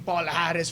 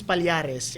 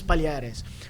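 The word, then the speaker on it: Palhares: know, Palares, you know, I I kept calling him Paul Harris for the longest time. Yeah. How to say his name is Palares. And he's he's clarified that with especially Bruce Buffer. Yeah. And Joe Rogan and Mike Goldberg. So, how to say his name is Paleares.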